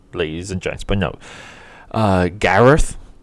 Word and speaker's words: Gareth: But no, Gareth, right? It's pronounced Garth.